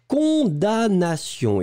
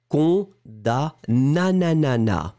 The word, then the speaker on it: condamnation: So you pronounce condamnation. D'accord? You don't pronounce the M at all.